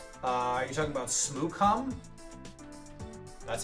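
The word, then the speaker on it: Smoochum: Uh, are you talking about Smoocom? That's how it's pronounced.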